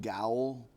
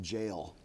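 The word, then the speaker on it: Gaol: When you said Kremlin Road Gowl, it's actually pronounced jail.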